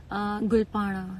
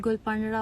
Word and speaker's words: Gul Panra: मेरे नाम की प्रोनाउंसिएशन काफी लोग गलत बोलते हैं, लेकिन इट्स गुलपाड़ा, नॉट गुलपनरा और गुलपनारा, इट्स गुलपाड़ा। सीमा गुलाली का मैसेज आया है।